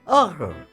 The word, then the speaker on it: heureux: HEUREUX. HEUREUX. HEUREUX. HEUREUX. Heureux. Happy. HEUREUX.